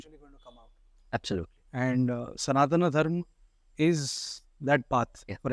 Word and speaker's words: Sanatana: That's the right way to pronounce it, first and foremost. When we say Sanatan, it means the last syllable is missing there. Okay. But the syllable is not missing from the word.